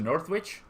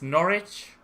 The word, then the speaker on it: Norwich: sarri we got to northwich uh you don't pronounce the the W in Northwood oh it's Norwich let's go we are